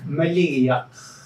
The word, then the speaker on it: Maligiaq: melody buddy eh Patera and excuse can we let yourself pronounce your name I'm sure I'm pronouncing all wrong you you got it Malia and the last name is actually this idea